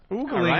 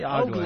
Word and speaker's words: ogling: Oogling would be 2 O's, Anthony. Oogling. Ogling? I say ogling. Ogling. What do you say? Ogling. Ogling. It is ogling. Ogling? Yes, that's the way you pronounce it.